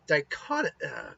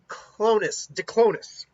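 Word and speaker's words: Diclonius: So Lucy is what's known as a dichotomous. God, I always get the pronunciation on this off. Diclonus. She is a Diclonus, which is an evolutionary offshoot of the human race.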